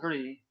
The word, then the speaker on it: Hri: Upon a moon mandala at the heart is the white syllable Hri, with a long vowel and subsequent aspiration.